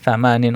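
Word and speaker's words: ثمانٍ: Jadi ada kata tsamaniyun ya itu disingkat menjadi tsamanin untuk mempermudah pengucapan.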